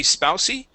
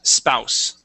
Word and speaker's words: spouse: okay uh this word the e at the end is silent so it would not be spous it is spouse spouse excellent okay um